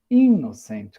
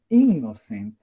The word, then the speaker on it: innocent: Innocent, cuidado com a pronúncia, aqui temos dois N's, faz os dois sons do N. Innocent, né?